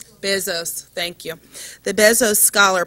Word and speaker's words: Bezos: us a presentation on the Bezos, did I pronounce it correctly? Bezos, thank you.